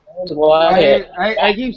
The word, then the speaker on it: Wyatt: His name is Wyatt. Wyatt. I I keep saying Wax because that's how I name. It's um W Y A T P. You pron you do pronounce the Y.